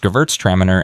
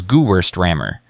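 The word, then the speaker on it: Gewürztraminer: Last week, Chad had pronounced Gverts Tramer as Gwurst Rammer.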